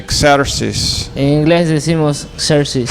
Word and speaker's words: Xerxes: In English we say Xerxes.